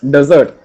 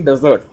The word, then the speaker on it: desert: We pronounce it as desert. D-E-S-E-R-T, desert, isn't it? But actually, it's pronounced as desert. D-E-S-U-R-T. It is pronounced as D-E-S-U-R-T.